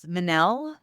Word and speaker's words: Manal: Manell, which rhymes with Chanel. That helps a little bit. So, Minnell.